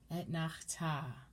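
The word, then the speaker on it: אֶתְנַחְתָּא: As I mentioned before, 90% of Hebrew has the accent on the end of the word. And all of these trope names are as such.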